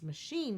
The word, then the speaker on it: machine: Provide, describe, delight, and then our last one is machine, which also looks like it's an I-E or a silent E syllable, but it is not because we don't say machine.